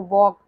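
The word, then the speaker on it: walk: जैसे कि आपका साइलेंट वर्ड्स भी होते हैं, जैसे वॉक, इसको वाल्क नहीं पढ़ते, एल यहाँ साइलेंट होता है।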